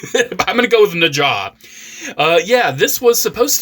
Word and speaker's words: Nezha: So this uh Na Transformers and yes it is pronounced Na at least you know in in Mandarin. I see a lot of people saying Neza Naza.